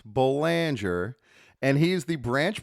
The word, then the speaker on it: Boulanger: We have with us Banger and make no mistake it is pronounced Banger and he is the branch president of branch